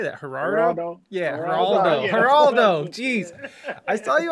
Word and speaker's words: Geraldo: Yeah, Geraldo.